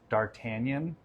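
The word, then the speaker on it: D'Artagnan: guess is it's pronounced dartanian in the g is silent I think so but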